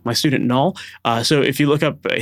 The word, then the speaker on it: Nol: Another artist would be Null K, my student Null. So if you look up, his name is spelled Nol, and then the last name is K, or last word is K, letter K.